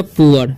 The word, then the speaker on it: poor: वॉज ए POOR है तो इसका उच्चारण हो जाएगा पुअर, वर्ड, ओके।